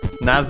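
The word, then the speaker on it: なぜ: So the whole first part of this description even though it's like that naz naz uh is an adverb accented on the first one and means why.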